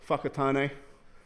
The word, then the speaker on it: Whakatane: This is how you pronounce it, Whakatane.